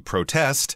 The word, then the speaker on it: protest: you're going to aest so the verb would be the stress would be on the second syllable as a noun if you're going to a protest or if you read about a protest in the newspaper it would be on the first syllable you're right A lot